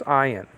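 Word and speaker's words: עין: The other one is ayin. It looks like a Y, but it's not a Y. It's just a silent letter like this one.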